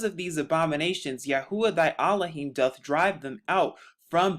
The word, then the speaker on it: Elohim: aart Hebrew names but another way to pronounce Elohim is allahim in the Hebrew Thou shalt not learn